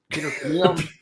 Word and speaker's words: Chmiel: There's a Peter, lot of consonants in my name. Chmiel. It's a Polish descent. I'm sure when we got off the boat, it was like Chmiel. How to spell that? So it came out as CHM.